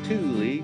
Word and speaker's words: Thule: You got Thule, yep, pronounced Thule, that started in Sweden before 43, with lots of trusty ways to haul your steed.